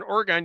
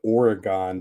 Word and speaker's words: Oregon: You say it the same way you would say Michigan.